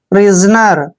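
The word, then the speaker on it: prisoner: की मात्रा लिखेंगे और एस का उच्चारण यहां पर ज करेंगे क्योंकि जब भी ए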